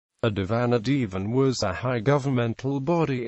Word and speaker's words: divan: century, which helps establish the original Middle Persian form was divan, not Devon, despite later legends that traced the origin of the word to the latter form. The variant pronunciation Devon, however, did exist, and is the form surviving to this day in Tajiki Persian.